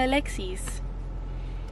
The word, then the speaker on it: Alexis: place so much um because they pronounce my name in Spanish which is technically my birth given names proper pronunciation they call me Alexis they're like here you